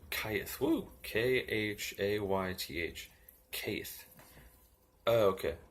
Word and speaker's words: Cheth: Cheth, CH and H as in help, value 8, is pronounced Kath, or Kayth.